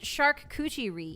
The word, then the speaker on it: charcuterie: I pronounced it charcuterie. Is that not... It's French, guys. Like, you don't pronounce the T. Did you think that you pronounced the T's in French? Incorrect.